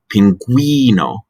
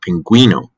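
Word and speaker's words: pingüino: at the bottom is pinguino with a we sound pinguino if you didn't have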